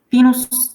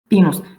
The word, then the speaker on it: pinus: Now, again, be careful, it's E, it's not I. So, iris, pinus. Pinus is pine tree. You see it's with capital letter, so pine tree, but you pronounce I in English, but in Latin it's E.